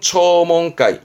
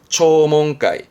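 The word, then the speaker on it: 聴聞会: 대부분은 다 붕 간다라는 게 조심할 사항이 되겠습니다.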